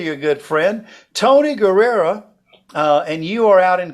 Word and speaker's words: Guerrero: But it looks like Guerrero, but it's pronounced right. Guerrero. Is that right? It's Guerrero.